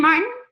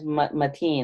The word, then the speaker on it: Mateen: Is your name Martin? Am I pronouncing it correctly? Mine is Mateen. It's M-A-T.